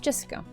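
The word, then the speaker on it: 朱志香: You see, that thing is pronounced Jessica.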